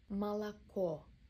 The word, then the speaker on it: молоко: Молоко. Last O is stressed, other became A.